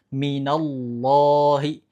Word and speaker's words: minallahi: Kesalahan kedua, menipiskan lam padahal harusnya dibaca tebal. Kalau di sini contohnya minallahi, minallahi, minallahi. Dibaca, teman-teman pastikan dibuka buku yang ini halaman 12 ya. Ini contohnya minallahi, minallahi. Oke? Yang salah adalah ketika dibacanya minallahi, minallahi. Itu salah.